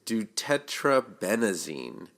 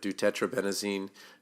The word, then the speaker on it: deutetrabenazine: in the next one, it's deutetrabenazine, and it's like like the first 3 letters of 2 in French, tetra, like 4, and then benazine.